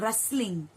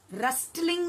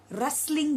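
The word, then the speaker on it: rustling: रस्टलिंग नहीं है बच्चों। ये जो टी है वो साइलेंट है। मतलब आपको रस्टलिंग नहीं बोलना है। रस्टलिंग बोलना है।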